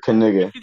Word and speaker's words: Knigga: for kigga 416 yeah you got to say the whole word kigga that's imagine a world